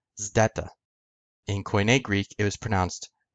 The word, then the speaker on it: zeta: Now, the classical Greek pronunciation of the letter zeta was an SD sound, so zd or st, which basically sounds like a ZD sound when you combine the letters together.